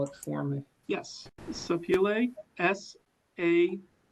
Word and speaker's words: Sapele: Could you say the name of the wood again and even spell it for me? Yes, Sapele, S-A-P-E-L-E.